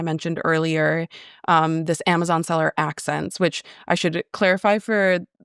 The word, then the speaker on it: accEncyc: And I had to go to the attorney that represents accEncyc to be like, "Can you please tell me how you pronounce this name?"